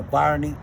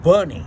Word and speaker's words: Bunny: And she introduced me to Bonnie. Okay. Bunny. No, you have to say her name correctly because she don't like you What to is say how we say it? Bunny. Okay, like Bunny.